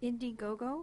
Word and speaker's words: Indiegogo: Indiegogo. I-N-D-I-G-O-G-O. Indiegogo. like it sounds.